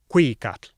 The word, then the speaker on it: cuicatl: Oh, and they stressed the second to last syllable, Cuicatl, Weyi Tlatoani.